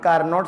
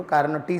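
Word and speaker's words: Carnot: ये हमारी कार्नोट cycle बनती, चारों प्रोसेस मिल करके एक कार्नोट साइकिल बनती। मतलब कार्नो बोलते हैं वैसे तो, कार्नो टी साइलेंट रहता है, पर मेरे मुंह से तो कार्नोट ही निकलता है।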